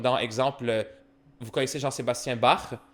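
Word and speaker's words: Bach: exemple vous connaissez Jean-Sébastien barr le ch dans barre ça se prononce comme un re.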